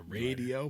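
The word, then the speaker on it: Raydio: you do ray dio is that ray dio a radio but it's spelt r-a-y-d-i-o never heard of i've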